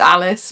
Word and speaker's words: Alice: you pronounce it eliche it's Alice but she's Italian so I think it's eliche Ro um so basically she